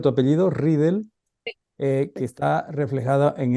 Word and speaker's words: Ridel: a la investigación de Francisca ridel así se pronuncia tu apellido ridel eh que está reflejada en este libro bueno